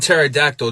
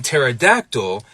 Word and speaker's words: pterodactyl: syllables right it's copter but in pterodactyl that p and t sound is in the beginning of the same syllable and for a lot of English speakers that's just not in their bag we see a similar